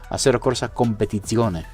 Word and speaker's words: Assetto Corsa Competizione: Assetto Corsa Competizione. I hope I'm saying that right. Federico will kill me. He tried to get me to pronounce it correctly. So it's Assetto Corsa Competizione.